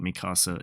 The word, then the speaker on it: Mikasa: don't love her or I guess Mika saw I said it wrong I love Mikasa but